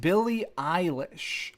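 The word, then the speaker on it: Billie Eilish: that's gonna be good it's pronounced Billy Eilish Eilish Billy Eilish India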